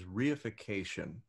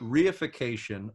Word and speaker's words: reification: merch is reification which i'm glad to have heard you say it because i had no idea how to pronounce that but reification rei fi CA tion treating people as objects